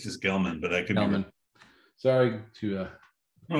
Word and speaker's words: Gelman: put this thing in Gelman is that how you say it it's Gelman I think there's a